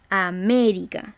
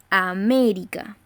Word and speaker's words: América: la la la pronunciación decimos américa es decir cargamos la voz en la ante penúltima sílaba américa por lo tanto como